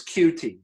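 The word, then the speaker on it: Coutee: but I'm glad you brought it up it's cutie because I always butcher the name but it's cute yes your kids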